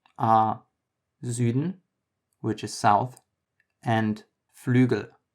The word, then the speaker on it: Süden: Some German examples for this letter are Süden, which is south, and Flügel, which is wing. Again, this is basically the middle between U and E.